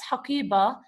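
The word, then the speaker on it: حقيبة: When you pronounce haqiba, you are pronouncing it as ha at the end, okay? Haqiba, haqiba. So you are hearing the ha sound at the end, not the ta sound. Though this is ta marbuta,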